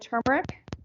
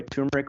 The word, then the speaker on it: turmeric: of turmeric, ground dried turmeric for color, but most importantly for the anti-inflammatory properties. By the way, turmeric or turmeric are both acceptable Turmeric. pronunciations. There's an R in there.